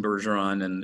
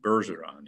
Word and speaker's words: Bergeron: Well, Nelson Bergeron and most French Canadians would not have pronounced his name Bergeron. He would have pronounced it Bergeron in a very clipped way.